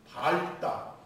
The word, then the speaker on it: 밝다: 그 이제 겹받침이 있습니다 겹받침 우리가 어 넓다 밝다 예 이렇게 발음을 해야 되는데 다 다라고 발음을 허락해요 세종 시절에 세종대왕이 넓다 밝다가 분명히 발음이 말이 있기 때문에 리얼 비을 써준 거 아닙니까 지금은요 전부 긴 소리로